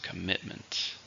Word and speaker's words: commitment: countable noun how many syllables commitment three stress in the second commitment marriage is a big